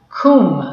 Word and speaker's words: cwm: how do we say I believe the pronunciation is cold cool also it's a Welsh word but it's in the